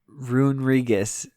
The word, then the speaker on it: Runerigus: Adam, why don't you pronounce this Pokemon's name for me? Runerigus.